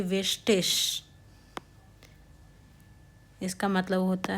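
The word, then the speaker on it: wichtig: इसका मतलब है बाय आई जी है तो हम उसको बोलते हैं इश् जैसे वेस्टिश इसका मतलब होता है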